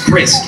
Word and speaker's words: Crist: the time and in my last name is pronounced Chris alright so like love